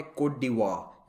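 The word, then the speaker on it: Côte d'Ivoire: वैसे आइवरी coast का official नाम है कोट डिवोire। इसको फ्रेंच में ऐसे प्रोनाउंस किया जाता है क्योंकि ये सब फ्रेंच कॉलोनीज थी पहले।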